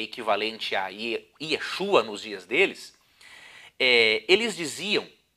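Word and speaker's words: ישוע: Já no tempo de Esdras e Neemias era uma pronúncia um pouquinho diferente, era Yeshua.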